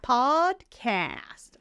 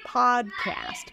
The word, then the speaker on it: podcast: mouth is for both podcast so your mouth is quite open for both one your tongue is in the back and then it goes forward podcast podcast no rounding of the lips at all podcast there we go